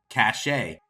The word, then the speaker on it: cachet: Cache can mean prestige, medicine to be swallowed, or an official seal, and is pronounced cachet.